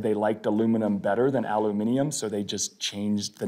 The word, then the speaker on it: aluminium: one i like is aluminium in the rest of the world it's not aluminum it's aluminium and the story that